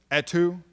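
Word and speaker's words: Etue: david's last name how do you pronounce david attu's last name david at e2 e-t-u-e no he and he and corman did a at two thank you he and corman did a um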